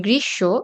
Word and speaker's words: গ্রীষ্ম: যেমন গ্রীষ্ম, এখানে মূর্ধন্য ষ এর সাথে ম ফলা আছে কিন্তু আমরা ম ফলার উচ্চারণ ম এর মতো করি না। স এর উচ্চারণটা ২ বার হয়ে যাচ্ছে। সেই স-ও আবার তালব্য শ, মূর্ধন্য ষ নয়।